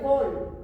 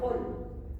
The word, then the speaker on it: Höhl: La pregunta podría ser acá, la célula de Höhl, así se llama, Höhl. Se escribe H O H L.